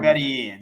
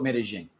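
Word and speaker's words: Medellín: But you are in Medellin, so I mean, you called it Medellin. Medellin, is that so? There's two pronunciations.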